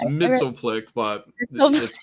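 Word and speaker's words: Mxyzptlk: would be funny uh mister Mike Peltz is that how you say it no it's Mitchell flick but they'll just pronounce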